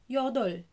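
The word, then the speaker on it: 여덟: رقم تمانية بينطق يو دول يودل يودل. كونسونانت فاول يو واللينج ما بينطقش دول.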